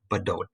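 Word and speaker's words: Bdote: subulent pike the word fort badote is how that's pronounced fort snelling seven dakota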